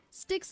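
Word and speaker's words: Styx: G4 form isn't cool sticks like the river okay okay like the river sticks I also used to pronounce it as stes so okay I pronounce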